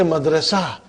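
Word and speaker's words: مدرسة: Madrasa tun. What will you say? Madrasa. Are you with me? What will you say? Madrasa. You did not pronounce ta marbuta, but you pronounce it as ha.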